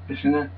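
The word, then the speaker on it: Fischinger: on uh the optical P by Auto Fishinger Fishinger um that's how you pronounce it and um the kind of notes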